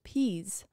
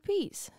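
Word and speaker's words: Pease: I typed it in it says to pronounce it as peas so I'm just going to pronounce it as peas p e a s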